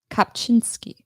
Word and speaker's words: Kopczynski: How do you pronounce that? Kopczynski. Or is it pronounced with like a V? No.